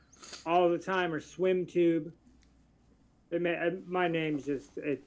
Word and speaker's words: SweemTube: How do you say your name? Is it Swim Tube just like it's Swam Tube just like it sounds? Or Swim Tube? Swim Tube. Everybody calls me Swim.